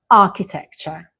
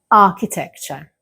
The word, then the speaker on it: architecture: So, we would say architecture architecture Again, the ch is pronounced as k like chaos and choir. An example sentence is I love the architecture in the city.